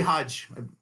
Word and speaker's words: Hage: Rawi Hodge.